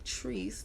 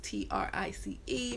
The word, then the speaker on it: Trice: or smile fitness by trees t-r-i-c-e many people pronounce it as trice i don't know why